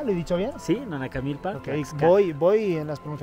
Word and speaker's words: Nanacamilpa: Sí, Nanacamilpa, Ok, Tlaxcala. voy en las pronunciaciones para arriba, ya.